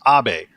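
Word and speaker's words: Abe: But that's exactly how it's pronounced in in Japanese, believe it or not.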